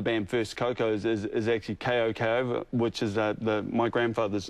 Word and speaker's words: Koko: So his name's Koko, but, you know, we called it Coco. Right. And, I was going to pronounce it Koko, actually, but I wasn't too sure. Yeah, well, basically, you know, we're one of those bands where it's K-O-K-O, so right. It's Koko, right. But we call ourselves Coco, and if anyone pronounces it correctly, right. Well, then it's a bonus, you know?